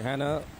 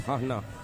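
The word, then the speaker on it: Hana: It looks like Hannah, but it's Hahna. That's the way you pronounce it.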